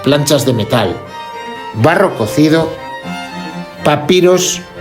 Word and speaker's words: Papier: El papiro es el antecedente de nuestro papel moderno. De hecho, en alemán se pronuncia papir. Esto en nuestro idioma se escribe como papier y es una forma